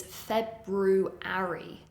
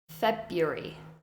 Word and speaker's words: February: in this category is a month which is spelled very strangely given its pronunciation and that is February the spelling is February the pronunciation February February and those are